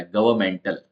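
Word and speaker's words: governmental: तरह से एडजेक्टिव है तो दोनों तरीके की स्पेलिंग्स में हमको एन लिखना होता है लेकिन एन का साउंड नहीं आता गवर्नमेंटल नेक्स्ट है हरेसमेंट हरेसमेंट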